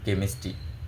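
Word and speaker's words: chemistry: টি এরও এমন, এক এক যেমন কেমিস্ট্রি, এটা তো CH এই সিস্টেমে, তাহলে এটা কেমিস্ট্রি, এভাবে কেমিস্ট্রি বলা লাগে, সেমিস্ট্রিটাই বলা লাগে কেমিস্ট্রি, কিন্তু এক একবার এক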